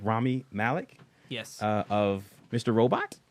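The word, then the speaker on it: Rami Malek: Busters M heart starring um how do you pronounce his name Ramy Malik yes uh of Mr Robot Fame uh uh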